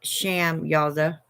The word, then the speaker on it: Samyaza: spelled s-a-m -y-a-z-a and it is also spelled like sham yaza but just go with Samuels that it'll get you there it's really interesting I